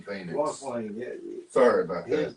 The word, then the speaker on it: Joaquin: Joaquin Phoenix. Joaquin, yeah.